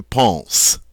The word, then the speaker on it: pense: It's silent, so we pronounce this je pense, I think.